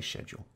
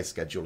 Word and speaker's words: schedule: just how it goes so I say schedule now you will see British people say schedule as well a lot of